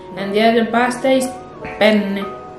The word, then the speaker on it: penne: And the other pasta is penne. Penne. Penne. Penne, don't be confused. It's the N must be strong.